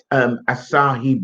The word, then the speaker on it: Asahi: All the beer over there, they are like locally brewed and Tell me, how do you pronounce Asahi beer?